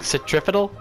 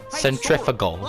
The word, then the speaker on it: centrifugal: And I pronounced it wrong. Centripetal? Centrifugal. Centrifugal. Centrifugal forces.